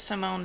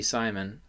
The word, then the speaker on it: Simon: But the last name, Simon, in French, you'd say Simon, right? Not Simon. Okay. I didn't know. I don't really know either, but I don't think it would be Simon.